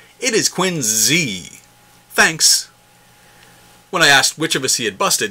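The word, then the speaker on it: Quincy: wrote in with some good-natured criticism about our pronunciation hey Hub history love the podcast but it is not Quinn C it is Quinn Z thanks when I asked which of us he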